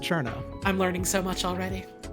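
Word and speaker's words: Cirno: that game to see cerno and then you turn it off for what it's worth her name is actually pronounced Cherno I'm learning so much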